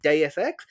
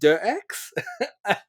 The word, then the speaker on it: Deus Ex: you know DSX came up and he said DSX and I remember saying to him you know it's pronounced dirx most people hadn't like it's one of those